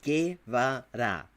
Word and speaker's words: Guevara: You can pronounce the name right, motherfucker. It's not that hard. Guevara.